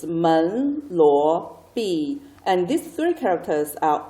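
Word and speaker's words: 门罗币: And most of the Chinese translations are based on the English pronunciation, so it doesn't really have a special meaning, I think. So this is Men, Luo, Bi, which is the Chinese name for Monero.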